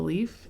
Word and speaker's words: Leif: And I want to point out the title is kind of interesting because this spelling of leaf, L E I F, is the a name.